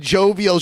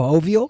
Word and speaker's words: jovial: them a little bit she said instead of jovial she pronounced it like a Spanish yeah she said joyful